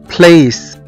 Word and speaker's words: place: طب ان ممكن ناخد امثلة مع بعض كده، زي مثلا كلمة place، place او مكان، place، place. هنا نطقنا حرف السي كأنه حرف اس لان جه بعد منه على طول حرف الاي.